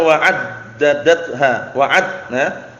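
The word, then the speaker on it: وعددتها: Ternyata bacanya wa'addadatha, addadatha.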